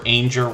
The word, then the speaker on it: Ainger: Good Times Homestead was originally Jennifer Ainger Rhymes with Danger, and with a name change, this creator is still supporting really like crazy, to be honest with you.